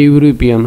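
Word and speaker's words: European: কারণ হলো এই ভাওয়েলটির উচ্চারণ ইউ এর মতো হয়েছে, সে কারণে তার আগে এ বসেছে। এ ইউরোপিয়ান হওয়ার কথা ছিল এন ইউরোপিয়ান, কিন্তু ইউর উচ্চারণ ইউর মতো হয়েছে, সে কারণে এখানে এ বসেছে।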